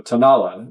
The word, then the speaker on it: Tanala: I I knew the accent wasn't um on the end, but I I could not remember. So, Tanala is the correct pronunciation.